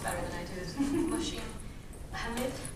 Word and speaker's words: Mohsin Hamid: You know how to pronounce this author's name much better than I do. Is Mohsin Hamid? Mohsin Hamid. Thank you, Mohsin Hamid.